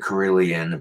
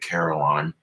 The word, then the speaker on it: carillon: Europeans pronounce it carillon, but the Americans pronounce it carillon.